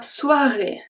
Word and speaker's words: soirée: La soirée. La, we good. Soirée, soirée. So OI is pronounced as a W and a E.